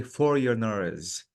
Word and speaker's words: foreigners: This word, Jamila, the G is silent. So I have to say foreigners.